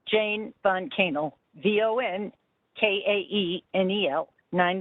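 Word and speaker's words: von Kaenel: no judge thank you commissioner um is jane van cannell or kennel there now pardon me can you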